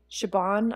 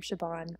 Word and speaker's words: Siobhan: I also love the name Siobhan. That was Siobhan. Really name. They were calling her Siobhan. Siobhan. With a V? With a V. That's how it's pronounced. I thought it was, like, with a B.